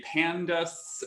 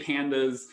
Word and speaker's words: pandas: panel data um so some programmers pronounce this differently they say pandas um or something like that i say pandas um because i like panda bears and i like to